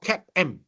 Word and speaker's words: CAPM: Now, how to pronounce this is called CAP-M.